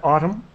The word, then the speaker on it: Autumn: Okay, but Jen, and Chantel, and Belinda, and, well, we'll skip Fluffy Bunnies, Autumn, Christine, just the N is silent here, Autumn.